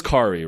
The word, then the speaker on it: Kari: Kari, it is Kari, right?